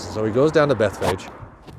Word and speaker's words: Bethphage: he goes down to Beth Fage bethphage looks like Beth foggy I think Beth Fage is the right way to say it and the disciples get